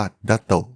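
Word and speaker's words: 脱兎: หรือ ดั นะ ครับ ใน ภาษา ญี่ปุ่น คำ นี้ ออก เสียง ว่า ดัโต ซึ่ง มี ความ หมาย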